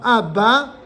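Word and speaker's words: אבא: pourtant il est là la même chose en hébreu si le Alf est à la fin comme dans ABA qui signifie papa Alf B Alf le dernier Alf c'est comme s'il n'existait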